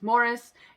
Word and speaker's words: Maurice: maurice but the like british way of saying that name is morris and i'm gonna assume that that's how they say it in the movie and that's how em